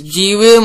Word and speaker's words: G-Rim: So anyways, without further ado of admiring the Diamond Rim, let's move on to the next one, which is G-Rim, or pronounced as Grim, code name for Gold Rim.